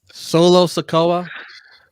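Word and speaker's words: Solo Sikoa: on oops didn't mean to press that again solo sakoa that's how you say it next week that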